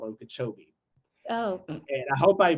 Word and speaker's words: Okeechobee: right outside of orlando and winter park called okeechobee oh and i hope i pronounced that correctly you did yes okay cool